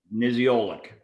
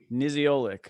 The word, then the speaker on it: Niziolek: Niziolek. Niziolek.